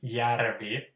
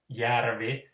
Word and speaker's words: järvi: So the Ha is always ha, and the Finnish word for lake is järvi, J, A with umlaut, RVI, järvi.